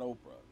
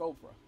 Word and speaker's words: Oprah: call her oprah but her name is not oprah it's oprah and so hey don't worry about it go ahead and figure out how to pronounce it but it ain't oprah it ain't okra either and so when they